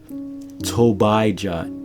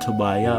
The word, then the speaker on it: Tobijah: Tobijah, T-O-B-I-J-A-H, not Tobiah, but Tobijah.